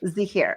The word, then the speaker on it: Zaheer: come back we're back with is it zah here is that how you say your last name yeah Zahir okay Zahir sorry and and how do you